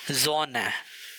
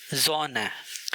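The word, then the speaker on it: Sonne: अगर ये लेटर शुरू में आ जाए या बीच में आ जाए तो उसको जेड की तरह प्रोनाउंस किया जाता है। For example जोना, जोना।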